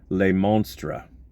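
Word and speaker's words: Le Monstre: including if you Google le Monstra the French pronunciation of the monster um there's a Cadillac that raced in like 49 or 50.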